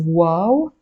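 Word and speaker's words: واو: and finally we have the letter wow the name of the letter is wow and the sound is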